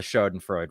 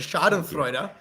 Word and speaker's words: schadenfreude: add the topic was and you did pretty good with the pronunciation but the shot of freuda I think is the